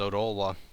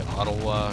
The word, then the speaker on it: Odolwa: That was almost as easy as Odolwa. I guess it would be Ottawa or something, since there's no reason to pronounce the first O like O, but whatever.